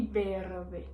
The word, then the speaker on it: verde: Quando em português a gente faz o verde, em espanhol, o V a gente vai pronunciar ele como se fosse a letra B, ou seja, fica verde. Verde. Conseguiram entender? Verde e berde.